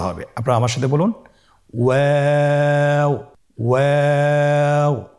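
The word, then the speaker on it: واو: আজকের পর্বের পরবর্তী হরফটি হলো ওয়াও। আমরা স্ক্রিনে দেখতে পাচ্ছি ওয়াও হরফটি উচ্চারণের ক্ষেত্রে বারিক হবে এবং 3 আলিফ টেনে পড়তে হবে। আপনারা আমার সাথে বলুন ওয়াও ওয়াও।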